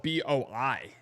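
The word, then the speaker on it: Playboi: What's interesting about him is Playboy Boy is spelled B Oi. So, it's not bo, it's boi.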